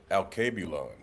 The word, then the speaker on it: Alkebulan: How do you pronounce it? Alkebulan. It's supposed to be like Africa's original name before it was Africa, but. Oh, he tapped in. Alkebulan.